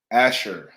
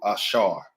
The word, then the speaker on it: Asher: and stuff like that Asher you know what I'm saying Asher in English in Hebrew Asar Asar those people right there